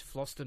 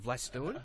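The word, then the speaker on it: Vlastuin: Did you tell him how to pronounce it's Floston, not Vlastuen?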